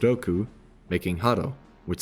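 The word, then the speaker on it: 六: the Japanese numbers 8, pronounced Tachi, and 6, pronounced Roku, making Haro, which sounds like Hal, the developer of this game.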